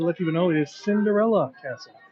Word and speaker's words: Cinderella Castle: Not to be confused with the mispronunciation. It is not Cinderella's. It is not an act of possession. Prince Charming loved Cinderella so much that he named the castle after her. So it is Cinderella Castle.